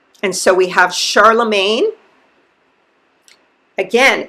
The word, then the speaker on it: Charlemagne: And we still have blacks named Charlemagne or Shalaman. So that's another pronunciation for it.